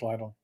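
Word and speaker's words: Lidl: lle yeah the Lial it's Lial not lle I think it's Lial it feels weird to say little but all right I'll do it cuz that's I guess their pronunciation so in Germany so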